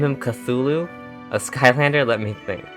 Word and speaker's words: Cthulhu: Name him Cthulhu?